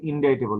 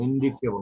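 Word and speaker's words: indictable: খুন এগুলা হচ্ছে ইনডাইটে উচ্চারণটা কিন্তু ইনডাইটেবল ইন্ডিকেটেবল না ইনডাইটেবল তো হচ্ছে গিয়ে আপনার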